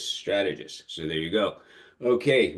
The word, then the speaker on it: Strategus: how to pronounce it just think of the movie Gladiator it's sort of like you know it's like strategist you know ramulus germanicus strategist so there you go